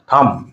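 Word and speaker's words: thumb: থাম, এখানে এই এম এবং বি পর পর আছে এবং এম এর পরে বির পরে কোনো ভাওয়েল নাই, এজন্য এখানে কি হবে, বির উচ্চারণটা হবে না, থাম।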